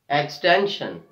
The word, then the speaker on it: extension: Extension. So we are stressing on the second last syllable, T-E-N, extension, extension.